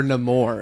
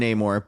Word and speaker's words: Namor: could be spoilers is Namor or no more as the way he's pronounced they keep on Flipping between no more and Neymar but um but it